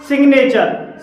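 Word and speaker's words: signature: और भी अपवाद इसके हैं, जैसे कि सिग्नेचर, सिग्नेचर में जी के बाद एन आया है और यहाँ पर जी साइलेंट नहीं है।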